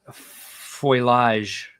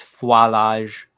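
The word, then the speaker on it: foliage: work and Landscaping and foilage as is the correct way to say it um I'm sorry NOP that was wrong it's Fage build the Fage um all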